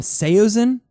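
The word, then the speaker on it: Saosin: Following Thrice, we have the new album from Seosen. Seosen. Seosen. That's how you say it.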